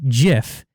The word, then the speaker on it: GIF: that literally says that the creator's meant for it to say jiff just the internet decided